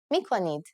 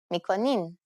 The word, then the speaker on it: میکنید: If you want to sound more formal, you only need to change the verb mikoni to its plural form, mikonid, or its easier pronunciation, mikonin.